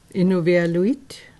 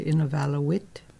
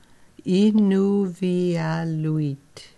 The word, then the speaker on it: Inuvialuit: in eval which okay innovia luit is the way we pronounce it for in our language yeah because i always hear people say in a vallo wit and a vala wit but that for us